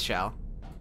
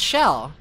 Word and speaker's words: Chell: It's shell. It's Chell. C H E L L. Yeah. P Wiki. Chelle. C H E L L. It Yeah, but it's pronounced Shell.